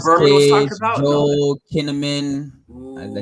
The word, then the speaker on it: Joel Kinnaman: Joel Kinnaman. Did I say his name right? Yeah, Joel Kinnaman.